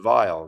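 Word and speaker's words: Weill: shorter not Kurt vile Kurt Weil but it's pronounced vile because it's yeah yeah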